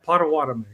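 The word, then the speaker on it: Potawatomi: What can you tell us about the um and I hope I'm pronouncing it right, the Pota Watami tribe, because that's the tribe you're from from Oklahoma. Yeah, Pawatami.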